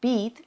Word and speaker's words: být: For example, byt means apartment, but být means to be.